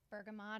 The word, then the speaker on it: bergamot: happy you can always use bergamot or Bergamo depending on how you say it there's also joyful